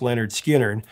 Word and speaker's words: Lynyrd Skynyrd: much stronger now skinnard spent six weeks recording pronounced Leonard skinnard and upon its completion it was nothing less